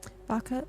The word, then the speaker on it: Vaca: Baka like cow. I'm a space cow. Oh, hey, space cow. Vaca like cow in Spanish.